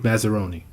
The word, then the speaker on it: Massaroni: So who is, and tell me if I'm saying your last name wrong because I've been practicing. Who is Massaroni?